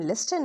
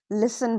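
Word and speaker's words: listen: इफ T comes after S इट is often silent. So don't say लिस्टन और वििस्टल keep it smooth.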